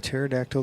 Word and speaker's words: pterodactyl: Anyways, can't why can't you hear a pterodactyl going to the bathroom? And you're supposed to say why can't you why can't you? Because the P is silent.